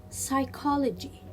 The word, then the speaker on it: psychology: will be psycho psycho and here psychology psychology i will not pronounce letter p why it is a silent letter in this word and the last word